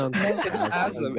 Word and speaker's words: Azam: And this, it's Asm. It's like Adam, but with a Z. Asm.